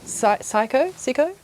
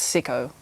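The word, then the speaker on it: Sycco: yeah she's really cool I think it's sio probably like pronounced sio I was saying psycho and then I heard someone Sayo and I was like whoops like uh yeah okay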